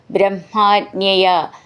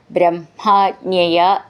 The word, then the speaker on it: ബ്രഹ്മാജ്ഞയ: ബ്രഹ്മാജ്ഞയ, ഇവിടെ ബ്രഹ്മ എന്നുള്ളതിൻ്റെ ഉച്ചാരണം ശ്രദ്ധിച്ചോളൂ. ഹ മ എന്നാണെങ്കിലും ഉച്ചരിക്കുമ്പോൾ അത് മ ഹ എന്ന് വരണം. ബ്രഹ്മാജ്ഞയ, ജ്ഞ എന്നുള്ളത് ജ ജ്ഞ എന്നാണ്.